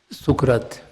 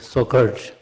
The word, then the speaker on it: Socrates: A matriculation student might have read the Sukrat. Sukrat is a Hindi pronunciation. You call it Socrates.